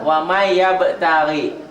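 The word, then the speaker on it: ومن يبتغ: Waman ditulisnya, dibacanya jadi n-nya hilang tuh kan. Untuk memudahkan memahami ini, tulis dengan laten waman yabtagi. Ada n-nya toh, dibacanya n-nya jadi hilang. Wamai qalqalah. Wamai yabtagi.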